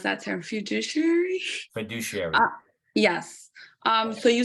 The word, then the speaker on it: fiduciary: Sorry to go back, but I have a question regarding the I can't pronounce that term, fiduciary? Fiduciary.